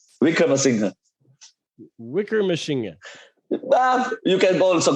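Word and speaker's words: Wickremesinghe: The way you said it is like Wickrama machine gun. Like machine gun. How do you say it? Wickramasinghe.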